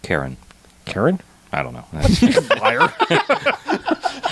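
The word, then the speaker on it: Ciarán: It's pronounced Karen.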